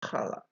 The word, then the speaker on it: Challah: like in church, but in Hebrew, it is pronounced as a hard H, as in Bach. So in this lesson, we use the XH for the letter Het, as in Challah. The word Challah also has another meaning